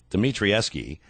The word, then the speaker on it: Dimitrieski: Dimitrieski, his book Tears for My City, is an